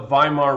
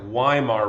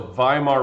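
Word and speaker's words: Weimar: let's talk about the viar Republic now I know it looks like wear Republic but remember that W's in Germany are pronounced as V's so viar Republic this is Germany's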